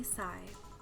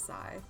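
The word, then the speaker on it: Sei: Okay, so you pronounce it say. My bad. I thought it was sigh.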